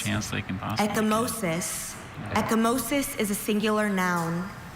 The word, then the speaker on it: ecchymosis: Ecchymosis. Are there any alternate pronunciations?